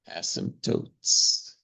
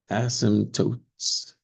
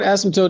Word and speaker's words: asymptote: 2 points, 2 asymptotes. The word asymptote is a little strange. It has a silent P.